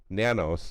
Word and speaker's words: Nanos: It's because his name is Nanos, and it's rhymes with Manos.